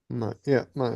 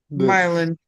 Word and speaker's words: myelin: Myelin. It's like the It's the myelin. sheathing coating around the nerve fibers. Just wanted to make sure I was saying it right.